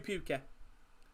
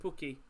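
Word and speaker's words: Pukki: it's really teemu timu puke see how deep i think it's just an accent thing the way i pronounced it was it pookie p-u-k-k-i i think it's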